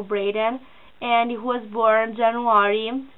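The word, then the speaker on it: Braeden: hope it pronounces well Brayden is spelled b-r-e-b-r-a-e-d-e-n preheated o Braden and he was born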